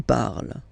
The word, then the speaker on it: parles: So you've got the two first forms, you pronounce them the same way. You write them differently, of course, because you've got here, and then you've got and s, okay? But then phonetically, they are the same.